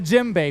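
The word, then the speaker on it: djembe: item, which is the Jimbe. If you don't know what a Jimbe is, it's spelled with a D, but it's just a drum from Africa.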